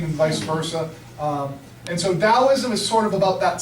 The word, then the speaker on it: Taoism: This is pronounced Taoism, by the way. It's a D sound, even though it looks like a T.